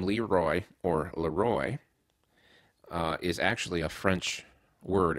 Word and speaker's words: LeRoy: all it's properly pronounced Laroy because it's a French word you're saying the king Laroy and the r is